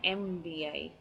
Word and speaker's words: MBA: because it looks like I'm saying EMM MBA so it starts with a vowel sound so I do a